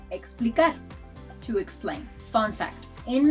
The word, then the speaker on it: explicar: And it may sound like an X, as in explicar, to explain.